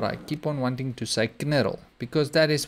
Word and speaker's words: knurl: pronounce the k and the K is meant to be silent so but there's I don't know if I have some sort of an OCD problem but I keep on wanting to knar because that is how